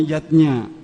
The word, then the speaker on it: yajna: lima macam selamatan zatnya tulisannya yajna Ayah Bunda tapi membacanya yatnya yang pertama adalah deway